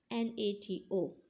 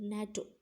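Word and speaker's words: NATO: like natto and radar we will not call natto as n a t o yes we will call it as a whole world natto so students you have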